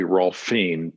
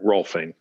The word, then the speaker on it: Rohlfing: It's kind of phonetically Rohlfing, like a P-H-I-N-G. So Rohlfing. Okay, it was Rohlfing. Close. Yeah. Rohlfing. The G does come in at the end, but yeah, Rohlfing.